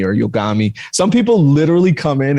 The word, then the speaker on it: Yogomi: also say yoga like a lot of science psychotics friends when i go into the chat they go yogami like they say it like that so they come in the